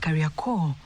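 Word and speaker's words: Carrier Corps: Its name traces back to the early 20th century when the British military's career corpse was based here locally pronounced career core.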